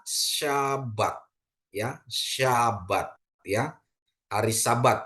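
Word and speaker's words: שבת: dari Shin bet ya Di mana Shin dikasih patah bet dikasih kamac jadi dia bacanya syabat Ya syabat ya hari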